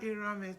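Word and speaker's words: Erhamwen: Funny enough, that Erame does not spell as A. It's the pronunciation that is spelled as A. But technically, that Erame is spelled as letter E without diacritic. Erame.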